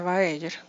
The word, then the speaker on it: Baeyer: Se escribe Bayer, pero se dice Baeyer.